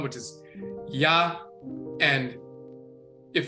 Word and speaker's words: Yah: When you say ya, the y sound is not just one sound, it's a combination of eh and ah, ea, and this is where you get the ya sound from.